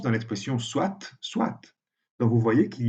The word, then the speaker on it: soit: On ne prononce pas le T dans le verbe soit, mais on le prononce dans l'expression soit, soit.